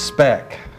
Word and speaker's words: Speck: it for your upgrade my name is spec rhymes with wreck oh you know for